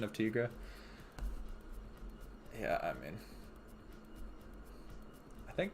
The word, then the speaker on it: Tigra: mean i think it's technically tigra right like that's technically what her name is in the comics not tiger yeah i can't remember though most people say tiger though i'll give you that